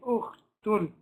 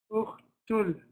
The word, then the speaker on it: أخت ال: You don't pronounce it, you jump straight over it, you go directly to the Lam, you say Ukhtul. Ukhtul.